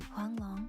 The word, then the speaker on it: Huanglong: Okay, respectfully, that is the accurate pronunciation of the word in CN though.